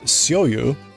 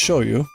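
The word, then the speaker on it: shoyu: in the menu as soyu but again we talked about the romanization ragi usage soyu is pronounced shoyou um it's not a sh but it's a show you anyway I order that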